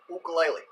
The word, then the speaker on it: ukulele: Now, one might argue that the proper pronunciation of this instrument is ukulele. Ukulele! But the Hawaiians came up with the idea. Okay? And therefore they get to choose what the pronunciation is.